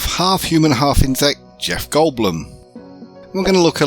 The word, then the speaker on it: Goldblum: He says it's pronounced Bloom. Jeff Goldblum.